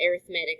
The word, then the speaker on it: arithmetic: an arithmetic sequence um that word is spelled the same as arithmetic but I believe whenever you use it like an adjective here that you pronounce it arithmetic that's what I've always heard anyway um so arithmetic